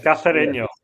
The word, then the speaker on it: Cacereño: Yeah, Cacereño.